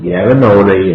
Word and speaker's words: Yamanote: Okay, you gotta get your Japanese pronunciations correct. Yamanote and Shitamachi.